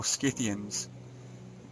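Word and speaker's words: Scythians: getting better records and the Cyians or Skiththeians would be how it's properly pronounced started to be mentioned.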